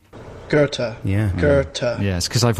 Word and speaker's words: Goethe: writer i know this g-o-e-t-h-e garter right let's have the real pronunciation gerta yeah gerta yes because